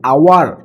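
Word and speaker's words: hour: আবার অ্যান আওয়ার, এখানে অ্যান আওয়ার, আওয়ার অর্থাৎ আ ইউজ হচ্ছে, এইচ উচ্চারণ হচ্ছে না বা হ উচ্চারণ হচ্ছে না, যার কারণে।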